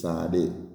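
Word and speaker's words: Tzadi: it will spell okay but the Hebrew is Sade Sade okay and um so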